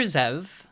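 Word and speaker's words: Xev: push back uh their leader zev spelled with an x it's pretty [ __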